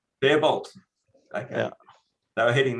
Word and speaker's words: Faribault: Yeah, how do you pronounce that? Fairbolt? Faribault? Fairbolt.